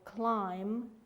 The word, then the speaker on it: climb: right and wrong then one more is be at the end of the word for example climb lamb in the great race the